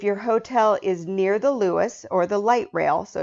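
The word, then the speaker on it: Luas: cab now if your hotel is near the Lewis or the light rail so it's spelled l uas it's the light rail um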